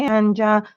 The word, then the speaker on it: Anja: Hi, Anja. Anya. I think it's Anya. No, you don't pronounce the J.